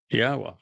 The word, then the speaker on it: Yahweh: It's a significant accomplishment since I painstakingly explain how one can prove that it is in fact pronounced Yahweh.